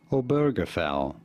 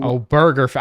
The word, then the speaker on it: Obergefell: How do you go about pronouncing this name? Obergefell. You do. Obergefell.